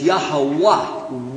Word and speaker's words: Yahweh: So, Jehovah is definitely an English pronunciation of the word Yahweh. It's Yahweh without any vowels. Non-Jews added vowels and said, well, it's probably Yehovah. But it's Yahweh.